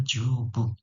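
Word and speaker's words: 十分: Oke, berikutnya ada jubung ya.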